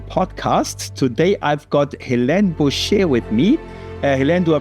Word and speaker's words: Boucher: Today I've got Helen Busher with me. Helen, do I pronounce your family name correct? Busher.